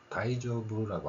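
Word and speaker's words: 大丈夫: 자, 그런데 이제 언어 때문에 제가 가져왔고요.이 대장부라는 발음을 보면 우리는 대장부라고 하지만 일본어에서는 다이조브라고 합니다. 앞에서 애처럼 대자의 발음이 다이로 바뀌었죠.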